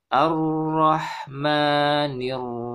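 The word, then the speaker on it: الرحمن: Kemudian ini kenapa dibaca a ya? A ar-rah padahal tidak ada harokat fathah di sini ya. Ya ini disebut dengan hamzah wasol ya. Hamzah wasol diucapkan ketika sebagai awalan kita membaca ya. Karena membacanya dari sini maka hamzah wasol kita beri harokat yaitu fathah ar-rahman.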